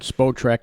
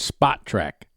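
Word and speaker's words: Spotrac: mike on a radio they called spo track no it's spot track dot com i've heard it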